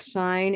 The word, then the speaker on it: sign: We've got sign in the verb, but then signature in the noun, Signature. right? So in one form, the G is silent, but we still need it in a sense.